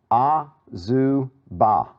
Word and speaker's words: Azubah: Let's see, AZU BAH, right? Okay? All right. So looking at this, you know, break it down into syllables again. It's, in fact, break it down like that. Azubah.